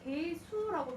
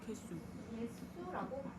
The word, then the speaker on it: 개수: 자, 우리가 이거 발음할 때 개수라고 발음하지 않죠? 어떻게 발음합니까? 개수라고 이렇게 발음을 합니다. 자, 그러면 앞이 뭐로 끝났니? 울림소리 끝났죠? 뒤에가 바닷가 사자 안 울림 예사소리가 왔죠? 안 울림 예사소리가 된소리로 교체됐지?